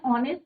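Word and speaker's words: honest: sound क्या करता है ये वोल साउंड करता है और एच क्या है यहां पे साइलेंट है वल साउंड है दैट इज व्हाई हम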